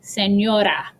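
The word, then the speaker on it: señora: like a native speaker you would say senora like it's a soft d senora so listen to the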